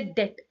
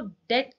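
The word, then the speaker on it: debt: बहुत ट्रिकी होती है जैसे डेट डेट यानी डी ई बी टी अब आप पढ़ रहे हो डेट लेकिन लिखते हो आप बी भी डेप्ट आता है है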